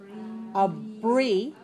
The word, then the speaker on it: abbreviations: All right, you need your lips for the B, and you need your teeth on your lower lip for the V.